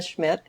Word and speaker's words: Schmidt: what is your full name and could you spell it out okay yeah Schmidt e l l n m a r